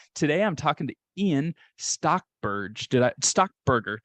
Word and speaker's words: Stockberger: I'm talking to Ian stockberg stock Burger did I pronounce that right stock Burger there you go you got it all right who is